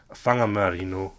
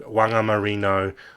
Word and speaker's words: Whangamarino: WH words in are pronounced with a f sound in Maori. So the word he's got there he's got whangakoko, whangamarino, whangamata, and whangamoa. And if you're a white Pākehā, and you're like a lazy racist like this chap, he'll go, that's wangakoko, wangamarino, wangamata, and wangamoa. That's how they'll pronounce it, like they see it in English.